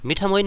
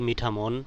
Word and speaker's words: মিঠামইন: এটি একটি প্রাচীন জনপদ মিঠামোইন কে অন্যান্য নামেও ডাকা হয় তার মধ্যে মিঠামোন বা মিঠামোন বলেও উচ্চারণ করে থাকেন নামের উৎস নিয়ে যে